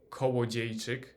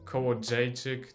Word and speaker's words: Kołodziejczyk: The perfect pronunciation would be kołodziejczyk, but as I said, kołodziejczyk is also fine.